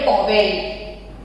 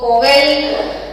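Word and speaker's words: Powell: Spelling में डी है, बोलेंगे उसको साइलेंट रखेंगे, सिज्विक एंड पॉवेल। तो पॉवेल, टॉवेल नहीं, पॉवेल।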